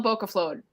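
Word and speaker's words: bókaflóð: And tell me this: how do I pronounce Jobla? Help me. Yola. So Yola. It's like YOLO, but it's Yola. Yola Bokaflod.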